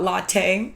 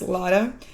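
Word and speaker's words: latae: 89 tensor fasia lada it's not latte it's pronounced lada but TFL for short that's the outside of the thigh near the hip.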